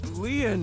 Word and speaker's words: Lien: My name, Lien, is spelled L-I-E-N.